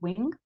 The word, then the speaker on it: wing: Por ejemplo, si yo digo wing, el sonido se queda aquí en la garganta.